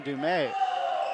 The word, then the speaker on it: Dumais: Centralia, excuse me on the pronunciation of his name, but that's John Dumais.